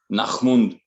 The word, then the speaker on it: Nachmund: I always pronounce that in a very German way, Nachmund, which is it's just so deep, you know, so sinister word.